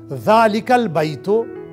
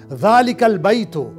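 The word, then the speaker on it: ذلك البيت: देखिए काफ का वावेल जो है वो लाम के साथ जा रहा है, अलिफ गिर जा रहा है, इस प्रोनंसिएशन को आप ध्यान रख दीजिएगा। जालिकल बैतो, दैट हाउस, अब फेमिनिन के लिए।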